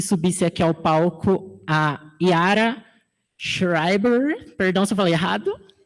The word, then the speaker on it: Yara Schreiber: Primeiro eu queria que subisse aqui ao palco a Yara Schreiber, perdão se eu falei errado. Falei certo, Yara? Eu tentei 1000 vezes pronunciar.